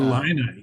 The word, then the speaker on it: Illini: You say Illini. Uh, Illini.